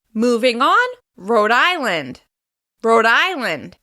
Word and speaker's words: Rhode Island: Moving on, Rhode Island. Rhode Island. Once again, the stress will be in the second word. In this case, it's on the first syllable. Rhode Island.